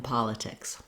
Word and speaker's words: politics: The letter O says the vowel ah in politics. That's pretty typical in American English when we have an O, often in a stressed syllable or in a single word where the O is stressed, it's actually an ah sound. So that's the first thing to watch out for. It's just like not, job, problem, etc. All of these words have an ah sound, nothing rounded like an O.